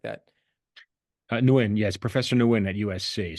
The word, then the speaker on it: Nguyen: You have a quote from a name which is like hard for me to pronounce, Viet Nguyen or something like that. Nguyen, yes, Professor Nguyen at USC.